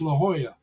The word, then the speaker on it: La Jolla: And it's like, no, Larry, the J's H, so it's La Jolla.